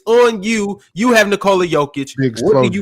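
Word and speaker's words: Nikola Jokić: But you call Nikola Jokic.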